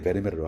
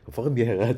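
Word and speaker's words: Vermeer: 그냥 통용되는 방식으로 오늘 그냥 편하게 베르메르로 할게요. 하지만 머릿속에서는 이제 퍼르미에르 정도의 발음을 이제 하시면 될 것 같습니다.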